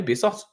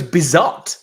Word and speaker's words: Bizot: I'm kind of like sitting there going play Bizos. Let him let him. He He's been pronounced his name right and we've said it for you three times before the game.